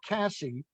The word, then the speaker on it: Casse: And he was trained by Mark Casse. Am I pronouncing the last name correct?